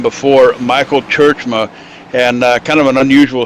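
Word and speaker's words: Tjeerdsma: It's T-J-E-E-R-D-S-M-A, pronounced Churchma. He finished second last season to Dale Smalley. Dale Smalley, of course, going home with the trophy and the big check. But Michael Churchma, here I go pronouncing it wrong, Churchma.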